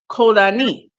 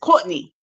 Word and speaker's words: Codany: In Haiti is pronounced Kodani, but in America it's Courtney. It's like the way a New Yorker would say Courtney. Hey, Courtney, without the R.